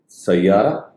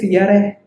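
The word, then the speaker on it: سيارة: Sayyara. Wow. You know you pronounce it's completely right. Sayara. It's a double Y. Somebody says Sayara.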